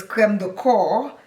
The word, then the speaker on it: crème de corps: I hear a lot of people pronouncing it crème de corps. It is not crème de corps. It's crème de corps, meaning body cream.